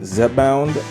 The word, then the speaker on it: Zepbound: Now, this medication, it's pronounced Zepbound, and you're probably wondering, what is it?